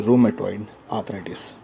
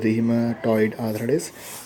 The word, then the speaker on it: rheumatoid arthritis: MA toi d arthritis so we should not pronounce this as a Rhema toid address but instead we should pronounce as rheumatoid arthritis rheumatoid arthritis is a chronic chronic names